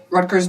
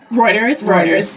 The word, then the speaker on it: Reuters: You did a 2-month stint, it sounds like, at Rutgers News Agency. Reuters. Yeah. I always mispronounce that one every single time.